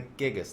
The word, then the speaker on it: Gigas: Where we're going to be doing this episode on the Gigas.